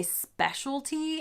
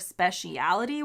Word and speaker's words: speciality: what else i say i say specialty instead of speciality which is what my husband says is this a british